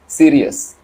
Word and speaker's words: Sirius: सबसे ब्राइटेस्ट जो स्टार है आसमान में जो दिखता है उसका नाम है सीरियस। स्पेलिंग आप लोग देखिए, SIRIUS, सीरियस।